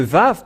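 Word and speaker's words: ו: Et nous avons vu la lettre araméen que le lettre Vav se prononce bien Vav ou V.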